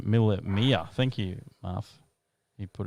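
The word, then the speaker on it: Mille Miglia: do i pronounce this mill miglia stand for is it a minute mile b one thousand miles or c miller to miglia james italian oh italian pronunciation miller mia thank you muff you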